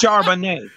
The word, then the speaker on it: Charbonnet: It's Charbonnet. Charbonnet? Man, that sounds like wine. Charbonnet. Listen, it is like wine.